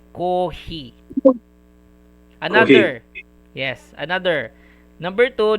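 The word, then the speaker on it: コーヒー: Uh it has a prolonged sound. Coffee. Okay. If you just put like this kohi just like this kohi, it is wrong. It is uh somewhat wrong grammar. I think wrong spelling. Okay. So that is why they use hyphen for that.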